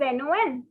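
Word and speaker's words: non: no is no simple the spelling is n-o-n but the pronunciation is no no all right so we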